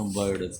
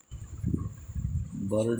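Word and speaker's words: bird: Lawyer होता है झूठा अब देखो पांच आई से अ का उच्चारण आई से अ का उच्चारण आई से का उच्चारण क्या हो जाएगा? वर्ड आई से अ का उच्चारण हम कैसे करेंगे? बर्ड बी आई आर डी बी आई आर डी बर्ड यानी कि पक्षी और अगला लिखेंगे बर्थ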